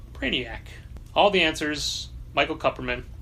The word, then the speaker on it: Kupperman: I would say so did we learned years ago was Cooperman and we were saying it wrong however Ken Jennings best-selling author of Brainiac all the answers Michael Kupperman it's a graphic memoir